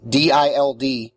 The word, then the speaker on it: DILD: dild which is actually the acronym d-i-l-d pronounced dild for the dream induced